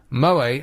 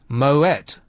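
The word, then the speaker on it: Moët: planet is just that in some region of France they pronounced Moa as Moet not Mo so try not to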